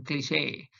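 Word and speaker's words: cliché: Word number 7, cliche. You can see that small line on top of that E. I made it to signal that the E is pronounced as A, as in cliche.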